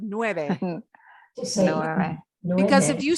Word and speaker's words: nueve: eight pencils okay now this one is very important to pronounce correctly at the end of this number you want to smile at the end why do i say it's important to smile at the end of nueve because if you say